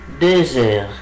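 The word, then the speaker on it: deux heures: يبقى أقول إلي دوزور، إلي دوزور. طب هنا ليه ما قلتش دو؟ ليه قلت دوز؟ لأن الإكس لما يجي بعدها فاولز منطقها زد، عشان كده أقول إيه؟ إلي دوزور.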